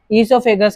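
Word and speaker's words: oesophagus: क्या बोले अपन इससोफेगस इससोफेगस की स्पेलिंग ओ से आती है याद रखिए गलत है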